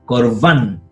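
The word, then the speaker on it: קָרְבָּן: Este Kametz es Katán. ¿Por qué? Porque está con una sílaba cerrada y no está acentuado, entonces es Katán, es O, no es A. Por eso es Korban.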